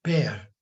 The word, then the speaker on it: père: A palavra pai em francês é père.